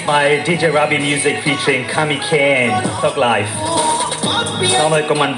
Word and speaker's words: Kamiikaze: a little confused because I've heard some people say Kamiikaze, some people say Kamiikaze, and I don't want to call you by the wrong name. It's Kamiikaze. Yeah, people have their own pronunciation of it, I guess. But whatever floats your boat, but originally it's Kamiikaze.